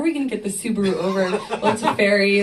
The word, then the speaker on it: Subaru: Or Subaru. Well, Subaru. Yeah, that's how they say it. Subaru.